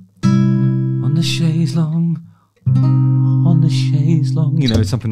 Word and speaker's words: chaise longue: So when they're saying on the chaise longue, on the chaise longue, on the chaise longue, all day long on the chaise longue, long, of course, rhymes with long because it sounds exactly the same.